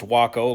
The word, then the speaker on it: Waco: Yes, it's pronounced Waco like taco.